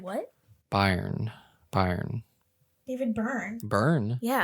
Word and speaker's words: Byrne: that David Byrne and David Byrne is pronounced burn because it's like English or whatever well I'll just say